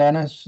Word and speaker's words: Ennis: thank you okay thank you Eric uh Dennis from Presque Isle hey Tony this is Ennis last name is spelled e-n-n-i-s we are underway with our season